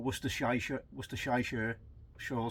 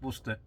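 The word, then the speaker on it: Worcester: put either mustard or wor mustard sauce or wer shy wer shy sure some of the Americans try to pronounce it it's Worster yeah that's that's another thing I watch sometimes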